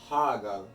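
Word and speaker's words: Hagall: So náður and hagal, you're saying the first part, the first syllable, really strong.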